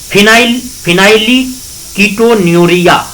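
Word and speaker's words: phenylketonuria: ठीक है, अब हम बात करते हैं फिनाइली कीटोन्यूरिया। प्रोनाउंसिएशन को मैं लिख देता हूं, फिनाइल कीटोन्यूरिया, फिनाइल कीटोन्यूरिया, या इसको शॉर्ट में पीकेयू भी बोलते हैं, पीकेयू।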